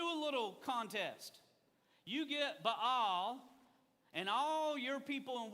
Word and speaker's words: Ba'al: one and they're everybody's worshiping bell or ba'al if you want to say it properly but we're in the south so it's baal okay uh they're worshiping